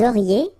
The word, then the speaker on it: auriez: Vous auriez, liaison here, and then EZ will go like E.